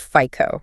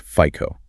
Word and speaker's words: FICO: In the US, that's pronounced FICO, right? It's the standard credit score system. Correct. F I O pronounced FICO.